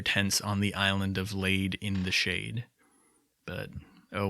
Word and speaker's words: Lade: I do know that the correct pronunciation of the island's name is Lade, but there is a small, maybe immature part